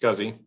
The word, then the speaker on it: SCSI: click the scuzzy controller scsi is pronounced scuzzy click the dvd drive